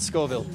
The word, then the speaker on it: Scoville: It's pronounced like it's like Scoville, like the pepper. At Scoville.